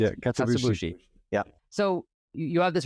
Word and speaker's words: Katsuobushi: Is that how you pronounce it? Yeah, Katsuobushi.